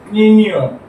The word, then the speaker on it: niño: Our pronunciation is niño.